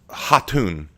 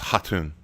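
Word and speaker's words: Khatun: name correctly well it's haton it's haton um in the in the Mongolian that k at the beginning is silent so it's haton Raven to say this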